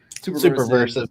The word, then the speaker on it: Superversive: Is that how you pronounce it? Superversives, yeah. Superversive, Pulp Rev.